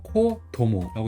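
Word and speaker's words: 子供: 그래서 이것도 코라고 읽어가지고 코도모라고 읽어요.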